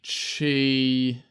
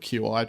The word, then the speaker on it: Qi: what do they call it it was the chi it's like a new standard for Chi open